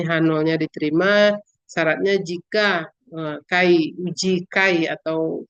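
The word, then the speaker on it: χ: C atau kai kadang orang membacanya k^ ya keefisien korelasi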